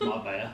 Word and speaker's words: Marbella: Or Marbella, depending on how you pronounce it. It's Marbella, sorry.